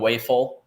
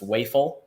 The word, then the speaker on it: Wafel: been talking about oh and wafel uh I was corrected on the pronunciation it's wayful um so that was interesting